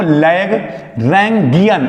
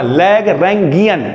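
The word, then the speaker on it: Lagrangian: देखो लैग्रैन्गियन, ऐसे करके पढ़ना, लैग्रैन्गियन, ठीक है।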